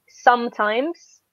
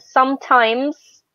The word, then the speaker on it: sometimes: start ordering these words I just want to point out that sometimes and always always end in s okay because sometimes I hear people say sometimes there is not some time it's always the plural yeah okay careful exactly